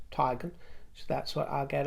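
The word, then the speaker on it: Teigen: And I'm using her pronunciation. I know others say Tegan. She says Tigan.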